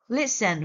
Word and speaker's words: listen: And be careful with some silent letter, as in island, the silent S, answer with the silent W. Listen with the silent T, and wire with silent R.